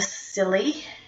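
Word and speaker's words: Cilley: For those that aren't aware, what I'm referring to is the FlyLady system by Marla Silly. I'm always not sure how to pronounce her name until she said it's silly.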